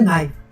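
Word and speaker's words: naive: इसका प्रोनाउंसिएशन होता है नाइव।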